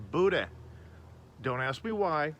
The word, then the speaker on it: boudin: to call it boudin or cajun sausage it's pronounced buddha don't ask me why it's just what my mom and dad taught me so put your boo down on the grill wait for it to get